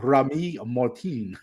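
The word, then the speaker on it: Rémy Martin: It's pronounced Remy Martin.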